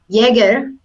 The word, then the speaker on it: Jaeger: And Ryzen Energy said this week it will supply 400-watt Jaeger to the project. I said it right. Remember the drink, Jägermeister.